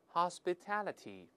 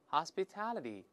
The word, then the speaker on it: hospitality: 读，跟老师大声读 hospitality hospitality。